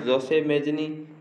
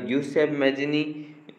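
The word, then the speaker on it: Giuseppe Mazzini: इस प्रश्न में जोसेफ मैजिनी दिया गया जो अंग्रेजी उच्चारण में भिन्नता आ गई है। इसका जो जोसेफ मैजिनी या ग्यूसेफ मैजिनी है इनका नाम है, और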